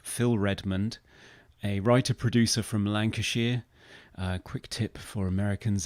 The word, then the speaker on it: Lancashire: Quick tip for Americans: if you're ever faced with the name of a British county and it's got Shire on the end of it, you pronounce it Sheer, not Shire. It's not Hobbiton.